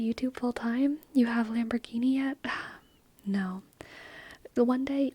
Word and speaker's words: Lamborghini: where I'm just like, Lamborghini. They always mispronounce it in like some hilarious way. Lamborghini. Tap, tap, tap, tap, tap, tap, tap. Lamburger. Lamburger. Yes.